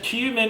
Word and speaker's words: cumin: Very properly pronounced as cumin and nothing else.